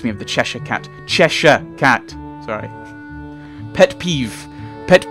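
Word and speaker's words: Cheshire: of the chesha cat chesa cat sorry pet peeve pet peeve is is Americans and Chesire Cat like it's cheser sorry sorry that that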